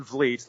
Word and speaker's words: Vliet: I'm constantly saying no it's Van Vleet like fleet or whatever meat I'm the one man fleet Chris fans Lee love